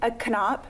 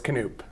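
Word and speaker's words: Knoop: No, it's Canoop. Canoe. Yeah. Sorry about that. Did I do 2 O's or did I do? I don't know. What did I You do? just got to pronounce it the old German way.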